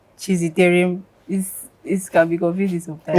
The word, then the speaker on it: Chiziterem: But it's Chiziterem, not Chiziterem. Or they'll say one kind pronunciation I don't understand. Because it's Chiziterem. You say Chiziterem.